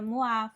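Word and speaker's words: moi: Sempre que tiver OI numa palavra, nós vamos pronunciar o A, tá? O A. Como, por exemplo, na palavra moá, fuá, tá?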